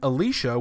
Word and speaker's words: Elisha: After suddenly initiating a drug bust, Nate and Sarah Springfield and their teenage children, Elijah and Alicia, which is spelled Elisha, are handpicked to investigate an outbreak of strange occurrences in an otherwise typical high school.